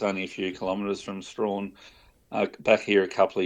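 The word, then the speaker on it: Strahan: over in the East I think it's Strawn is how you pronounce it I always used to pronounce at St but I think it's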